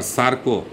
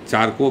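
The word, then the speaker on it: Charcot: 1885 ईस्वी में फ्राइड को वियना विश्वविद्यालय से पेरिस जाकर फ्रेंच चिकित्सा शास्त्रों, खासकर सार्को या जिसे चारको भी के साथ का भी नाम से उच्चारण किया जाता है, अध्ययन करने का उनको मौका मिला।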